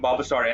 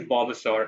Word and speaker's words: Bulbasaur: So I wonder if it really is Bulbasaur or is the L not silent? Anybody in chat know? Is the L to be pronounced like Bulbasaur or Bulbasaur?